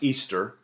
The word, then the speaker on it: Ishtar: Ishtar, which is pronounced Easter, was a day that